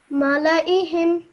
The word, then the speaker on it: ملائهم: Now over here, this is not a ayn, okay? This is a simple hamza. So you would read this as if it were an alif sound, okay? Mala'ihim. Mala'ihim.